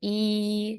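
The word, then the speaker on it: 一: do say one so letter Y and the letter i in Chinese both of them they say e so it's the first tone that will be e e e and in Chinese we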